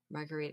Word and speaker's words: Margherita: So, but one of them, her name was Margherita Sarfatti. And she was in a drink? Margherita. Yeah. Spelled differently, but yeah, it's pronounced the same.